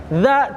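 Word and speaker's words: ذ: Dza, cara pengucapan huruf dza itu digigit sedikit aja ujung lidahnya. Ujung lidahnya jangan sepertiga lidah ya, atau seperempat, jangan dza gitu. Tapi ujungnya aja dikit.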